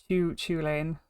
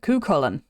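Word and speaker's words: Cú Chulainn: kullan or chuch chuain so it's not uh Chu chuain it's not it's not this that's that that's wrong it is C Co an that's how you pronounce it kullin aolin is a very famous Irish hero Irish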